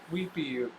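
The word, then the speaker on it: huipil: When you wear that blouse, you're twins with the pretty senorita in the Mexico wearing her hupao, pronounced weepio.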